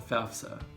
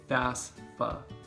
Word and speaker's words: FAFSA: For grants and student loans, however, there's an important application called the FAFSA. Now, for whatever reason, it's our tendency to say FAFSA. Don't do that, that's not correct. It's FAFSA.